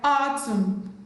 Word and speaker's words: autumn: Letter N is silent in the word autumn, column, condemn, dam, hymn, solemn, male guy, not Gavi, male guy.